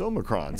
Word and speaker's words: omicron: alphabet uh in college he's like no no you're saying it all wrong it's omicron so indeed say something